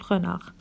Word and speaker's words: renard: Elle peut être au début d'un mot, exemple homme, ou à la fin du mot, exemple renard. Alors dans ces 2 mots, on trouve la lettre H et la lettre D. On les voit à l'écrit, mais on ne les prononce pas à l'oral.